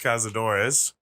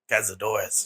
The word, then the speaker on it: Cazadores: Well, that was Cazadores. That's not how you say it. Cazadores. There you go.